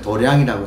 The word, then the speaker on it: 도량: 이런 도량의 도의 장소 도장 도장을 발음을 도량이라고 해요 그니까 도량에 인연을 맺으셔서